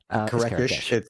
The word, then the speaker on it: Kerekes: It's actually Kerekesh. It's like the H is silent. It's so silent it's not even there. There's no H. It's just like Kerekes.